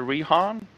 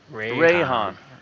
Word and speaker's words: Rehan: Any questions for Rehan? Is that the correct way of pronouncing your name, by the way? You're muted. It's Rayhan. Rayhan. But close.